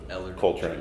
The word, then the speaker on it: Ellar Coltrane: with Patricia arette and I want to make sure I'm saying your name right it's Eller cultr yeah cuz I don't want